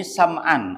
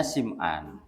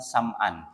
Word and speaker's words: Sam'an: Ada yang bacanya bacanya Sim'an ya. Wallahuam ya. Tapi ya kalau merujuk pada pensyarah kitab ini Ibu yakni Ibnu Daqiq ya al Imam Ibnu Daqiq Al-Aid ya. Beliau lebih memilih dengan sebutan Sam'an bukan bukan Syim'an ya condongnya beliau itu.